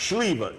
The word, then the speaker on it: Sliwa: Uh, in fact, when they ask me what's that last name, it's actually pronounced Schliva means plum. They Americanize it. Schliva, right?